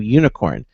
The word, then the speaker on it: Unikrn: to be talking to unicorn now it's spelled un I krn not the traditional way for for you spell unicorn but it's pronounced unicorn